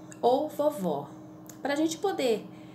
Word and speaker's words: vovó: aqui só pensa em na palavra vovô ou vovó para a gente poder é escrever essa palavra a gente precisa saber a pronúncia a gente precisa conhecer o assento para